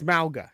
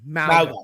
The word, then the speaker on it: Mauga: It's Mauga. Yeah, Mauga. Yes. You've only you know me and how I am about pronouncing names.